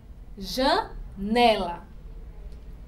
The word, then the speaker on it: janela: Janela. Ó, nela. É a penúltima sílaba.